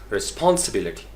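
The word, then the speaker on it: responsibility: तो अपने लहजे में हमारी ठीक है एक दूसरे को समझाने के लिए, but once you talk to your native clients you need to pronounce this word as रिस्पॉन्सिबिलिटी, रिस्पॉन्सिबिलिटी, रिस्पॉन्सिबिलिटी।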